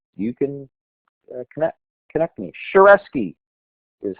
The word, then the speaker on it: Shareski: to do um you can connect connect me shareski is how you pronounce it some people call it sherki I'm fine with either and there we